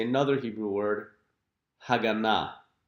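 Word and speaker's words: הגנה: And now we can say another Hebrew word, Haganah. Haganah, which means security.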